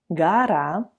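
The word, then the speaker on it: гора: Gora. Remember that you should pronounce O as A if it's not under the stress.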